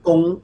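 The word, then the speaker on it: gung: gong means the bow. All right, like G-U-N-G, almost same Gong.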